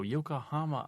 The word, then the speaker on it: Yokohama: Well, it rhymes with Obama.